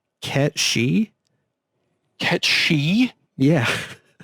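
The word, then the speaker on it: Cait Sith: that help yeah yeah kate says yeah so apparently that is pronounced cat she get she yeah it's the Gaelic word for fairy cat sure so we've been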